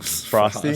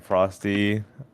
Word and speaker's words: Froste: Frosty? Frost. Frosty. Is it Frosty? Is that how you Yeah.